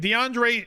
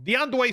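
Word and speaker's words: D'Andre: running backs this week deandre or sorry my bad i pronounced that wrong deondoy swift uh coming off of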